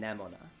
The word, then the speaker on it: Nemona: my pronounced her name nemona her name sounds like aroma hang on hang on